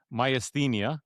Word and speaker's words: myasthenia: think that you would deal with, I'm gonna pronounce it again, myasthenia, right?